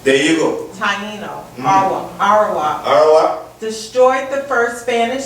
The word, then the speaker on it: Arawak: Okay, so let me give you the pronunciation of it, okay? Taino? There you go. Taino. Arawak.